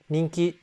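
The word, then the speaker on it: 人気: Same thing with ninki. Almost like n iing in English.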